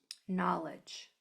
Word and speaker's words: knowledge: So, don't forget we have this kn right here, that silent letter pair. And then we have a J J sound at the end. So, it might sound like a ch, but it's actually a J sound, but we can't spell J.